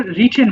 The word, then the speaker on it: written: Have not রিটেন, উচ্চারণটা হবে রিটেন হবে। হ্যাঁ, আমরা রাইটেন বলে অভ্যস্ত, কিন্তু রিটেন হবে।